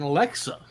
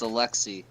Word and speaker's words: Alexei: I would say Alexi I would say Alexi whether it was spelled like it is here or ex i e I'd say Alexi but Alexa that may be more accurate to the pronunciation it's Alexi bro when the [ __